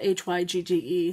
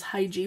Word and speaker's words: hygge: a hyuga it's spelled h-y-g-g-e some people mispronounce it as high g but it's pronounced hygge a turtle hugo stick